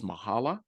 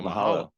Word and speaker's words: Mahalo: I think the word is mahala. Am I pronouncing it? There you go. Mahalo.